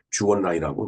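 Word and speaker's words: 周恩來: 중공의 이제 주원래 총리, 주원라이라고 이제 중국말로 그러는데 우리 이 발음대로 읽으면 주은래 총리가 되겠습니다.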